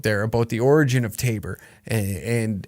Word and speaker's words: Taber: get water right and it was originally called t tabor with an o now it's spelled t-a-b-e-r tabor alberta and and i